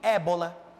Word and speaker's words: Ebola: A pronúncia, Rio Ébola.